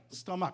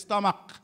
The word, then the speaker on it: stomach: note here that uh ch as in stomach is not soft it's hard right stomach everybody says stomach stomach you hear that